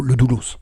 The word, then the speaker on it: Le Doulos: Pardon, je parle pas dans le micro, le Doulos. Tu Pardon. prononces le S, c'est pas grave.